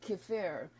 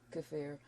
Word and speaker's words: kefir: And as far as the kefir is how it's pronounced. Some people it's pronounce kefir. It. Yeah. And kefir. Kefir. Some people pronounce it that way.